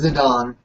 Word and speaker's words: Zidane: enlighten me on how that's pronounced, because in the Zidane? city- Penis. It's Zidane? Zidane. It's Zidane.